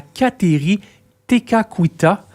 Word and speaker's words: Kateri Tekakwitha: À Kanawake, on va pouvoir aussi découvrir le sanctuaire qui va être dédié à Kateri Tekakwitha. Pourquoi cette femme... je le prononce bien?